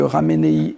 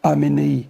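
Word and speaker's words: Khamenei: Au fait, si vous prenez le mot raménéi, ils ne prononcent pas le rê, ils diront aménéi. C'est comme le mot aman.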